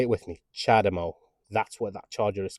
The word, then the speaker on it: CHAdeMO: a lot of people calling it chademo honestly I'm just about to lose lose it it's not a chademo it's a chademo okay say it with me chademo that's what that charger